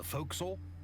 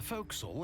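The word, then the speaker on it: fo'c'sle: actually several decks the foxel waste quarter deck and poop deck the folk soul is a shortened form of forecastle the term dating back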